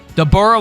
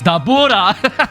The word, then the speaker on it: Dabura: Dborah was al uh Oh, I said I said it wrong. No, it's Dabura.